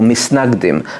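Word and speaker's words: מתנגדים: And the opponents became known as the mitnagdim, or misnagdim, as it's colloquially pronounced, the opponents.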